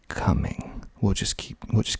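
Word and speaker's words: Cumming: spelled c u m m i n g coming we'll just keep we'll just keep moving irwinville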